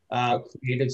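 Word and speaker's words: Cr8tive: Creative spelled with an 8, C-R-8-T-I-V-E.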